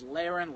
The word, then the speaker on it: Lahren: It's Lahren, like laryngitis, Tommy Lahren.